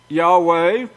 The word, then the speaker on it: Yahweh: they is trying to say the name wasn't pronounced Yahweh they're lying of course but there was a